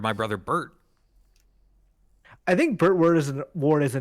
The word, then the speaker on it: Burt Ward: It rhymes with baby on board, I can tell you that much.